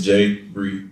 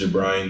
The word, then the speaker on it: Jabriane: can say her name really it's jay bree and everybody thinks it's jabrian gibran uh on sometimes it's